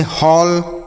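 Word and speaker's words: hall: तो अगर ए के बाद डबल एल रहेगा तो औ का उच्चारण होगा। ठीक है? जैसे हॉल, कॉल, फॉल, toll, वॉल, बॉल, ऑल।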